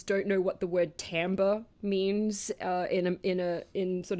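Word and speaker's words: timbre: know what the word Tambor means in a in sort of the music context or Tambe it's a French word it looks like timber but it's pronounced Tambe I hate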